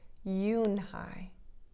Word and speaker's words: Unhei: turned to joey she nodded slowly yes it's pronounced yoon hai and it means grace said miss and it means grace mr kim added yoon hai joey said slowly and this time perfectly it